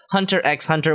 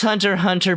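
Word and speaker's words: Hunter × Hunter: Sakura at Death Note Hunter x Hunter which I will call Hunter x Hunter until the end of time I know it's Hunter hunter but there's an X in it and it just is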